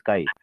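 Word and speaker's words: chi: गलत नहीं है, बट बहुत सारे लोग चाय प्रोनाउंस करते हैं, दिस इज नॉट चाय, दिस इज काई। आप चाइनीज वर्ड देखो ना, सी एच को कभी चा बोलते ही नहीं, कब बोलते हैं, ठीक है जी, ओके।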